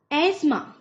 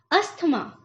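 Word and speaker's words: asthma: इसका गलत जो प्रोनाउंसिएशन उच्चारण बोला जाता है वो है अस्थमा। अस्थमा, बट the right pronunciation सही उच्चारण इसका क्या है फ्रेंड्स? एस्मा। एस्मा।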